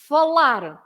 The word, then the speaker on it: falar: name of the verb always finish with an R so you should stress the last part for example folar Etc so you always stress the last part of the verb the the word because